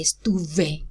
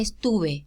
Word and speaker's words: estuve: But we don't say estuve. We say estuve, estuve, because that's how we pronounce it in Spanish.